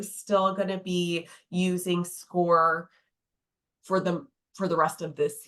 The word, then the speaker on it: Scoir: Yeah, and for Vernon Hills, we use a software platform called Score. It's spelled SCOIR.